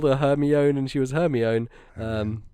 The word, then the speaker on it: Hermione: harry potter uh hermione my mother didn't know the name hermione so for the first three books when she was reading to me uh when i was younger uh we called her hermione uh so she was she was known as i've also heard her me one before yeah yeah i just